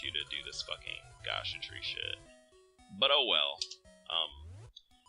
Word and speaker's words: Gasha: Maple randomly, or a geisha. How the fuck do I pronounce that? Gasha tree? There we go, it's Gasha tree.